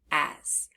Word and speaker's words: as: a heart word hm if we look at that second letter the S we hear the z sound but it's spelled with s now we might not have learned the rule yet about how sometimes the letter s can make a z sound and not just a s sound so so that's why